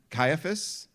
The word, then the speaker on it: Caiaphas: Caiaphas.